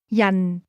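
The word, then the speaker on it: 人: Yan. Yan. This word is pronounced with a falling tone.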